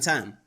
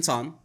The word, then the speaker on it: Tan: And then number 3, I want to visit my good friend, which is Brandon Tan Right. Or Brandon Ton, as you really pronounce the last name.